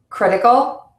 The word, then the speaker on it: critical: And you're going to stress the syllable to before the suffix in words ending in c, t, phi, g, all, eyes, and ate. Sanity, critical, advertise, communicate.